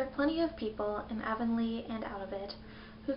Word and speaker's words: Avonlea: I think I heard that it's pronounced Avonlea. So, Avonlea, although that's not how it's spelled, but isn't that how most of the English language works?